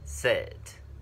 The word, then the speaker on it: sit: Sit. Sit. Không phải là seat mà là sit.